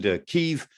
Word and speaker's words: Kyiv: But also, let's not forget that Kiev, or Kyiv as we call it these days in deference to Ukrainian language, you know, Kiev is the Russian pronunciation, Kyiv is the Ukrainian pronunciation, but Kyiv was founded in the year 482.